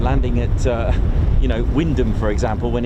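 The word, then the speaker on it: Wymondham: It's pronounced Windom, isn't it?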